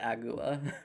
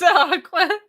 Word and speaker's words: Aqua: Is it Aqua or is it Agua? It's Aqua. A gooey dog. Agua. Give yourself a point for mispronouncing Aqua.